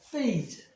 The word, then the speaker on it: phase: 뭐 이것뿐만 아니라 예를 들면 뭐 이렇게 있을 때도 phase 패하는 게 아니라 PH가 F 사운드니까 phase 받침으로 들어가도 마찬가지겠죠.